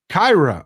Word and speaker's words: Kira: I just wanted you to know my name is pronounced Kyra.